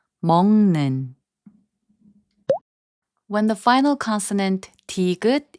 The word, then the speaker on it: 먹는: And 먹는, which means eating, is pronounced as 먹는.